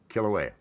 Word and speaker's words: Kilauea: Is that how you Yep, pronounce that's it? that's the one. Kilauea.